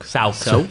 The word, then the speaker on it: Sooke: Sooke. Sooke Nation. Is how you pronounce it.